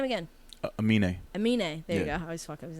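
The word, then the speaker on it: Aminé: wait how do you say his name again amine there you go his name uh he was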